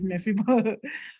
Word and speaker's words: Mephibosheth: How do you pronounce it? Mephibosheth.